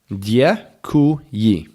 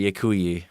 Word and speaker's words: děkuji: Děkuji. Oh yeah, that's right. Děkuji.